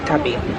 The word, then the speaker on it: Xtabi: by the water oh okay how do you pronounce this the name of this place xtabi x x Tabby Tabby yeah xab X thank you it's so nice